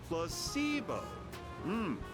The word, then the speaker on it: placebo: word to our vocabulary today repeat after me placeo the stress is on the middle Sy veritol